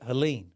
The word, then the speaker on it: Helene: Helen Helen Helen Helen so like spleen but Helen ah spleen Helen okay so Helen obviously